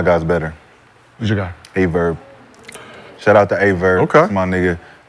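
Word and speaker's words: AyeVerb: Spell it. A-Y-E-V-E-R-B. A-Verb. A-Verb.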